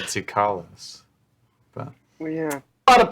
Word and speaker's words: Tsoukalos: Is that how you pronounce it? Interesting. Sukalos? I believe Sukalos, it's yeah. Sucrose. Oh, I always said Sukalos.